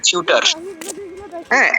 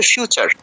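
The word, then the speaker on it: future: এখন ধরুন ইংলিশে একটা শব্দ লিখে দিয়েছে। এফ ইউটি ইউ আরই। তো আমরা বাঙালিরা দেখে কি বলব? যে ফিউটার এফ ইউটি ইউ আরই। টিউটার। লজিক্যালি তো এটাই হয়। কিন্তু এটার উচ্চারণ তো ফিউটা নয়। এটার উচ্চারণটা তো হচ্ছে ফিউচার। এমনি নেচার। ফিউচার নেচার। এখানে টি এর উচ্চারণটা কিন্তু টি হচ্ছে না। চ হচ্ছে চ।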